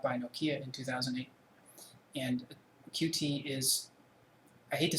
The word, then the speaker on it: Qt: For those not familiar with Qt, officially Qt is pronounced Qt, but honestly I prefer to call it Qt, so I'm going to stick to that.